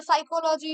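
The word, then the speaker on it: psychology: যেরকম আমরা জানি যে নিউমোনিয়া, সাইকোলজি, সবকটা ওয়ার্ডের আগে কি থাকে? পি থাকে, তো পিটা সাইলেন্ট থাকে।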